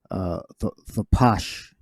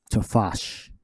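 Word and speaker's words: תפש: Well, the way we pronounce it is thapash. Here is thapasha, and the root word is thapash. But people with the Khazar Edomites say they will say tafash.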